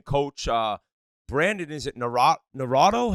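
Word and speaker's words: Naurato: with the Michigan coach uh Brandon is it narado how do you say it g yeah that's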